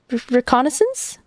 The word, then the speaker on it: reconnaissance: I don't even know how to pronounce this. I know it's recon. Is it reconance? Reconnaissance.